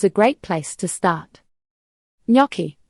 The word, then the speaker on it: gnocchi: Gnocchi, pronounced gnocchi, are soft dumplings, most often made with potatoes, flour and egg.